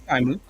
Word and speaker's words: DyeMooch: So is it DyeMooch or DyeMooch, or what's the pronunciation? Yeah, no, it's DyeMooch.